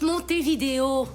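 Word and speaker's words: Montevideo: Ça se prononce monter vidéo.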